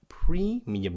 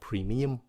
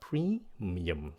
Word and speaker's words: premium: Mình nghe nhiều bạn phát âm cái chữ này là premium, không phải là premium. Nó là premium. Các bạn nhấn âm đầu xong rồi xuống giọng.